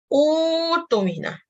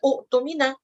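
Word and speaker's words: أُوتُمِنَ: Tapi kalau you waqaf, dan you nak mulakan ayat tersebut, maka you wajib bacanya sebagai utumina. Okay, tak boleh baca utumina. Utumina, you baca dia panjang.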